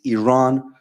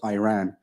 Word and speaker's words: Iran: You say you support the Iranian people, but you're pronouncing our country's name wrong. Our country is named Iran, not Iran.